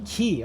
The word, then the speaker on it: quay: Kron key. Okay. Pronounce key is something you a ship to.